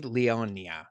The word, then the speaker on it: Leonia: am joined by just a lovely person Shay Leona what okay how do you say your last